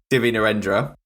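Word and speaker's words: Divya Narendra: nend I how the you pronounce his name no no you got it right I did get it right div nendra he's an angry little man isn't he another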